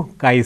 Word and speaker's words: chi: non parametric statistics सांगू काय square taste बरोबर आहे ज्याला काही लोक ची स्क्वेअर वगैरे म्हणतात उच्चार करायचा काय स्पेलिंग मात्र सी एच आय हे आयुष्यात आता विसरायचं नाही नव्हे मी तुम्हाला सांगतो